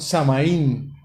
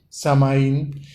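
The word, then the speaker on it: Samhain: que yo le llamaron samaín pues más o menos es la traducción san jaime san martín ágil algo así se escribe sm h y n samaín que significaba esa fiesta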